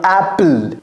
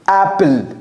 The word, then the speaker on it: Apple: Apple. Once again. Apple. Once again. Apple. Beautiful. Ah, vous voyez, son A est dans la gorge. C'est pas A.